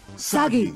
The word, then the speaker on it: Sagi: Cliché burden boy of action who will save us all is named Sagi. Rhymes with Saki. Saki! Which I could use a lot of right now. Sagi!